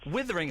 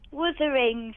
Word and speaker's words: Wuthering: Withering Heights? Wuthering. Wuthering. Wuthering. So you like a book and you don't know how to pronounce it.